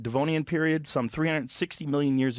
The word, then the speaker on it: Devonian: until the Devone how do you say that devonian devonian period some 360 million years ago you might